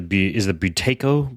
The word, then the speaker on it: Buteyko: That's part of the Buteyko breathing method. Is that how you pronounce it?